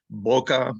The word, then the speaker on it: bokeh: And the pronunciation of bokeh is bokeh, bokeh, bokeh. I've come to think of it as bokeh, as in like Ken. That's what they typically call it.